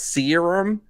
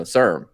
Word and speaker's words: serum: __ ] today because apparently serum is like um pronounced serum yeah we're all saying the same thing guys like i i guess i thought it was you know serm okay anyways uh soul